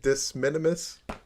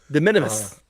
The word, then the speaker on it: de minimis: How do you say it again? Disminimus? De minimis.